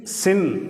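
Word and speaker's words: שִׂין: அதேது வலது பக்கம் இல்லாம இடது பக்கம் புள்ளி இருந்தால் அந்த இந்த எழுத்தை சின் அப்படின்னு உச்சரிக்கிறோம்.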